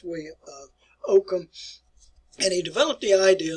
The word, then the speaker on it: Ockham: One individual, William of Ockham, and that's the way you pronounce it. It's not Ockham if you've been taught Ockham before, but it's William of Ockham.